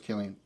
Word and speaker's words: Cillian: Pretty sure it's Cillian. Great guy. I think it's Cillian, Carla Gugino, I don't know who that is. I've heard people pronounce it both, but I think it's Cillian. I'm going with Cillian.